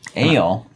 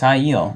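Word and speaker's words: Aiel: Ale. Aaron just pronounced ale. I thought it was earlier IEL. it is. It's IEL.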